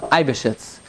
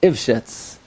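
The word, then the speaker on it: Eybeschütz: I quote this individual I pronounce his name um um ibiscuits it's probably this one is probably pronounced ifshits so okay but over here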